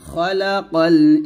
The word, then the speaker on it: খালাকাল: দেখুন বাংলা উচ্চারণে দেখুন খ লেখা আছে খলাকল নট খা খা বলবেন না খলাকাল ইনসান তাহলে